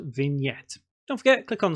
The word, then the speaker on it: vignette: g and e TT e and some people mispronounce it by saying vignette or vignette it's actually pronounced vignette what is it exactly well you may see